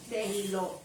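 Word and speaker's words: תהילות: Termina en T. En T y lleva tilde. O sea que hay que marcar el acento en la O.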